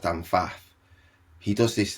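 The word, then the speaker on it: Pfaff: And if you look at a guy called, it's Dan, I think it's pronounced Dan Faff.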